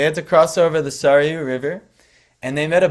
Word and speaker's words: Sarayu: Sarayu, that's how you say it?